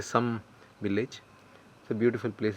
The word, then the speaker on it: Sam: you can uh it's it's spelled Sam but they say some Village so beautiful place